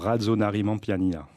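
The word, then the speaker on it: Rajaonarimampianina: Il s'appelle Heri, je vous laisse le prononcer. Alors, Radzonarimanpianina.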